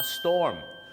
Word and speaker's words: storm: นะ ครับ พายุ ก็ ต้อง ออก เสียง ว่า storm A storm วิธี จำ ง่าย ๆ ครับ แมลง